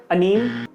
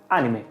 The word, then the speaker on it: anime: But before we go ahead, let's clear up the pronunciation of इट। इट्स नॉट अनीम, इट्स नॉट अनीमे, इट्स एनिमे।